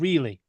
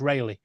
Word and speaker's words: Rayleigh: I was like, "You mean Rayleigh?" He goes, "No, it's called Reilly." Like, no, it's Rayleigh.